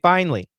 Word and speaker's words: finally: realtor finally finally and she is using three syllables typically we do two we don't say finally we say finally finally when their realtor